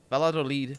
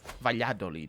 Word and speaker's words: Valladolid: i understood what i was doing mostly um valladolid valladolid actually pronounced like that i didn't realize that was